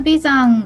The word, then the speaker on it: 眉山: んですけども眉山っていうのが眉眉ですね眉毛のいうまゆ新山とか言って眉山と読むんですけども